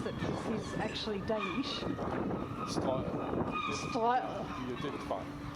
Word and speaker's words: Strøget: Maybe I'll get Tony to pronounce it because he's actually Danish. Strøget.